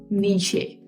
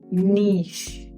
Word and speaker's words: niche: word on the screen and so many students pronounce it as nishe or sometimes they also pronounce it as n